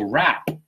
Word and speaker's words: wrap: That's that W you don't pronounce. So wrap, right?